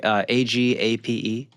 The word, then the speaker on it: agape: Well, that's the word agape, right? Is that how you say it? No clue. You know what I'm talking about? Nope. It's like it's called like giving love, like AGAPE. Oh, That's like that's a right. Like how do you, how do agape? you, how do you say that? Like when your mouse agape. I always said agape, agape, Oh, or yeah. I mean, agape. usually, yeah, it's Greek.